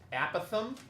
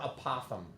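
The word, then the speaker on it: apothem: This is pronounced apithom or apothom. I like apothom because it rhymes with Gotham.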